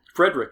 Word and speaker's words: Friedrich: You're not going to spell that? Frederick, FRIEDRICH.